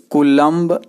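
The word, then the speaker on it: coulomb: अब आवेश का मान निकालना है कूलम में। आवेश का मान कूलम्ब में या कूलॉम, दोनों एक ही चीज है, दोनों उच्चारण आपको हिंदी में समान होता है।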